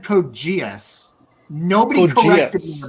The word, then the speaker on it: Code Geass: Kogias? Did you call it Kogias? No, I said Code Geass.